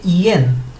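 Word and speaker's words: yin: combinación con algunas consonantes esta se escribe y n pero fonéticamente no se dice como lo vemos se dice yen parece como si realmente estuviéramos diciendo una e y cuando ustedes vean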